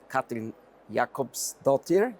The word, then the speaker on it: Katrín Jakobsdóttir: My name is Jasser, and it's my pleasure to welcome Katrín Jakobsdóttir. Is that the correct pronunciation?